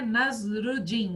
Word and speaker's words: Nasruddin: Olha como se fala, né? Nasruddin, Nasruddin, Nasruddin, certo?